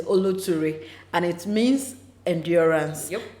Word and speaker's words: Oloture: also do not know how to pronounce the name it is oluturi and it means endurance